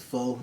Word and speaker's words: pho: the what the um it's a pho restaurant which like is spelled faux p-ho okay um it's like noodles